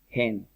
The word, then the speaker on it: hen: Empieza con H, pero ¿cómo se pronuncia gallina? Hen, ¿sí? Con J.